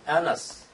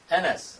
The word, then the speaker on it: Annas: One is Annas. A-N-N-A-S. How you pronounce it?